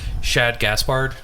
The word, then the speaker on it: Shad Gaspard: something like that um i never know how to pronounce this guy's name shad gaspard shahid gasp no you got it right the first time yeah was it shahad